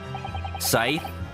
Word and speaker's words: Scythe: Scythe? Sounds like Sykes. Well, you hear it's pronounced as Sith.